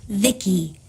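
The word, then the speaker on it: Vici: transistors by the way I'm v-i-c-i pronounced Vicky my Creator was Vivi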